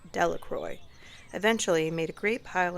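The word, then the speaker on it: Delacroix: Jones and Dicky Delroy The Village pronounced it Delroy eventually made a great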